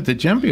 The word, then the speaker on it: djembe: We have a djembe over there. Do you want to play the djembe? No. Am I saying it right? Djembe? Sounds right. When a D and a J go together, I'm confused.